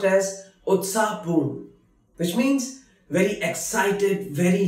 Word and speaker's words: उत्साहपूर्ण: Utsahapurn, lively or excited. Utsahapurn, which is pronounced as Utsahapurn, which means very excited, very lively.